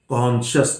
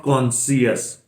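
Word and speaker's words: conscious: तो ये जैसे this is नॉट एंक्सियस, एंक्शस, शस, शस, एंक्शस, cautious, कॉन्शियस, नॉट कॉन्सियस।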